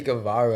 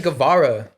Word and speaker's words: Gavara: delli I like danelli she checked me the other day for saying her name wrong her get it right bro she's pay my bad my bad Stephie gavara shout out to you sh